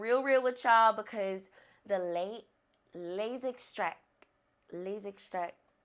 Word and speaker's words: Les Extraits: And I just have to keep it real with y'all because the Les Extraits, yeah, that's how you say it. It's very French.